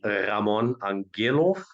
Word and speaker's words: Ramon Angelow: So um originally said like my name would be Rammon Angillov but even myself I never say it like this.